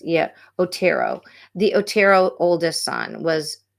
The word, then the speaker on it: Otero: the brother who walked in and found the Ortiz family uh not Ortiz it's or tunnel I'm sorry I hate to mispronounce um the victims names yeah Otero the Otero oldest son was featured in a